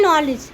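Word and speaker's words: knowledge: जैसे नॉलेज क्या है? नॉलेज। नॉलेज में भी डी हमारा क्या रहता है? साइलेंट रहता है।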